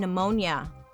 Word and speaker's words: pneumonia: Dark history of why there is a P in pneumonia.